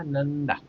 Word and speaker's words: नंदा: दूसरा शब्द हमने लिखा नंदा। यहां पर न अनुस्वार का उच्चारण हो रहा है न।